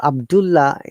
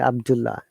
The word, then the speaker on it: Abdullah: The rule is that we have to ignore one of the consonant and we must pronounce only one of them. So Abdullah, a native will never say Abdullah. The native will say or pronounce it Abdullah.